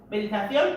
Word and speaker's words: Meditación: Meditación, accent on the O.